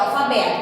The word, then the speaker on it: alfabeto: Aqui, ó, alfabeto, qual é a sílaba mais forte? É o bé, vocês estão vendo?